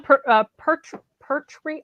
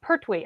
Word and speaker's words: Pertwee: it yep yep but sean per tree i can never say his name very good sean free say it again we her tweet wait per tweet i keep one to say per tree so it's pertwee i think that was the first